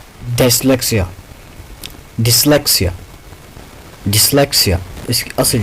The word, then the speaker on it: dyslexia: हमारे जो ज़्यादातर स्टूडेंट्स है इसको डायस्लेक्सिया बोलते हैं. इसका वो जो असल जो इसकी प्रोनाउंसिएशन है डिसलेक्सिया. डिसलेक्सिया इसकी असल जो प्रोनाउंसिएशन है हम ज़्यादातर इसको डायस्लेक्सिया बोलते हैं. ये गलत है.